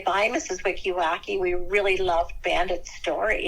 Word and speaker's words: Wikiruk: My students over the years, they had a hard time pronouncing my last name. It's Wikiruk, and they would call me Mrs.